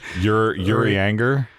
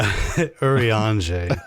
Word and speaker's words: Urianger: Yuri Anger? No, Urianger.